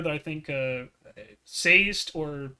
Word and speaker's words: Sazed: letter that I think Sazed or Sezed, how do you pronounce his name, Chad? Sazed. Yep. Missed it twice. It's Sazed for short, so you're good.